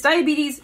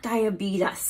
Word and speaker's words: diabetes: also adorable as well but it's diabetes not diabetes okay all right we